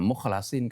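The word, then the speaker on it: مُخْلَصِين: Oh ini dibaca ee mukhlasin kenapa? Ya, karena itulah yang dibacakan oleh Rasulullah sallallahu alaihi wasallam atas wahyu Allah melalui malaikat Jibril ya. Ee bacanya mesti begitu mukhlasin karena ya kedilan Al-Qur'an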